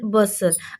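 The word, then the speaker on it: bustle: अब यहाँ पे देखिए, हसल, मैंने हसल पढ़ा, टी इसमें मैंने साइलेंट कर दिया क्योंकि टी साइलेंट है, टी की आवाज़ नहीं आ रही। जैसे कि हम दोबारा पढ़ते हैं इसको, हसल, हसल यानी कि धक्कम पेल, और बसल चहल पहल। तो इन दोनों वर्ड्स में जो है एस टी क्या है, साइलेंट है।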